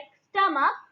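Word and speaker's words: stomach: Like स्टमक, स्टमक, यहाँ पर CH स्टमक की स्पेलिंग में लिखा है स्टमक, लेकिन साउंड में क हम प्रोनाउंसिएशन करते हैं इसका क, तो इसीलिए यहाँ पर हम ऐड करेंगे ओनली एस, ना कि ES।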